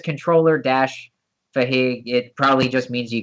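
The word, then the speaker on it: fähig: I'm just gonna post this in case anybody's curious as to how to actually pronounce it. So it's Fahig.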